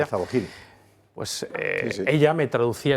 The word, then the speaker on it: Al-Zawahiri: Que tú me corregirás, Esparza, cómo se pronuncia. Al-Zawahiri.